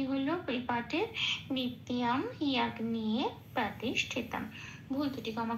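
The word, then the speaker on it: নিত্যম্: Second লাইনের নিত্যমে নিটা যেমন আছে তেমন, তয় জপলায় লাল দিয়েছি জফলার উচ্চারণ বোঝানোর জন্য।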